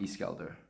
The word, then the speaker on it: Iskaldur: This is Mount Iskelder. Okay. Yep. If you want to know how to spell that, I can definitely Please tell do. you. Iskaldur.